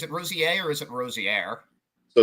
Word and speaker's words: Rosier: Is the R silent, or is it Rosier, or is it Rosier? So it's actually pronounced Rosier.